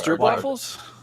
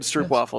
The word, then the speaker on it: stroopwafel: Are those stroopwafels? Are these good? What are they? They're digestive. They're chocolatey goodness. Ooh, that does sound good. Yes. Love me a good stroopwafel.